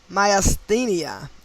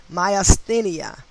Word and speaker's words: myasthenia: okay i don't even know if i could pronounce this maya myasthenia m-a-m-k-m-y-a-s-t-h-e-n-i-a myasthenia gravis g-r-a-v-i-s having gematria of 74 like killing